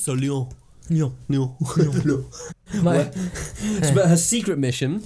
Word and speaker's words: Lyon: And make sure that you don't hit the consonants at the end of words. So Lyon.